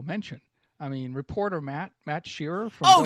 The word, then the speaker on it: Shearer: It's Matt Sheerer like Harry Sheer. S H E A R E R.